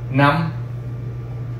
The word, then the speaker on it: năm: Now again, this thing has a half crescent. That means that we pronounce the word a lot faster with a much more clip rate. If I didn't have this, it would be pronounced nam, which is, you know, the second portion of the name of our country, right?